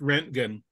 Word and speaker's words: Röntgen: Pronounced Röntgen.